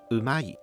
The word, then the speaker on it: う: Some materials explain it like this: ''Japanese 'う' is different from Mandarin 'u'. Don't round your lips. Relax your mouth. Move the tongue forward.